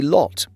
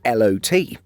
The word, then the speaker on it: LOT: For the major Polish airline, we say LOT and have never heard anyone say LOT.